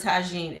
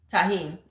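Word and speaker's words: tahini: Cucumbers with lime and tagine is the shit. Tahine.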